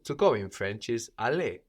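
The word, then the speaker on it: aller: plural in the word for the which is also the word for it or them no how do we say the do la la good and how do we say the doors so in the plural also just becomes g a r e l is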